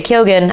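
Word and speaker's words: Keoghan: this year with Barry kyogen I think that's how he pronounces his last name I know it's technically supposed to be Ken or Ken but I think Barry pronounces it kyogen so Barry kogan with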